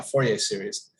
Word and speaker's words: Fourier: legend next to joseph foyer who is another famous mathematician of the era originator of a thing called fourier we pronounce it the american way now fourier series um really big deal